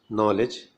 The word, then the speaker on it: knowledge: For example, in KN, K is silent, as in knowledge, need, make dough, knob, pneumonia, knell means death well, knee.